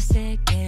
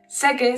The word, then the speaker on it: seque: Seque sounds very similar to saque, which comes from the verb sacar. Sacar means to take out, so you have to be careful with your pronunciation.